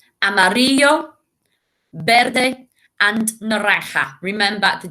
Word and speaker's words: amarillo: So we've got rojo, azul, amarillo, verde, and naranja. Remember, the J makes a sound. Rojo, naranja. The Z makes a sound. Azul. 2 L's make a Y sound, so y. Amarillo.